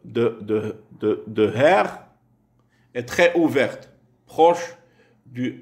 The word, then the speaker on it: Herr: Hör se prononce Herr, Herr, monsieur.